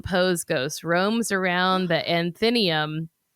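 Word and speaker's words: Athenaeum: ghost roams around the anthenium, I think is how I would pronounce that. Uh, athenium. A t h e n a eu m. I think it's athenium. Whatever, guys.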